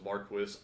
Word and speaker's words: Marquis: it's marquise yeah I always said Marquis audiobook pronunciation which apparently approved all but was Marquess I'm gonna say Marquis I'm giving the middle